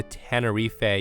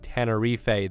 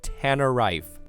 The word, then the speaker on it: Tenerife: tell you all that I butchered the pronunciation of Tenerife the first time I read it. Guys, I said Tannerife, and StevieBoy was so appalled.